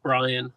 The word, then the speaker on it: Brian: And it's funny because it's literally, she texted me, it's literally just Brian. It's just Brian. Rhymes with Ryan.